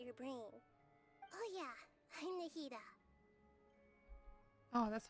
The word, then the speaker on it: Nahida: Oh yeah, I'm Nahida.